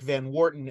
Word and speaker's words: Van Orton: the family name is Van Orton and I thought uh to speak to the literary references especially the way that certain characters pronounce it it it sounded a little like van Wharton and I was like